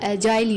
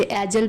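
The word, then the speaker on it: agile: रखना है क्विक या एजाइल, या इसे एजल भी प्रोनाउंस कर सकते हैं या फिर एजाइल, या निम्बल, प्रॉम्प्ट या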